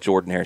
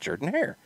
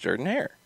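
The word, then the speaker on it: Jordan-Hare Stadium: it wrong yes because auburn pronounces it jordan hair so it should be pronounced jordan hair yes but to get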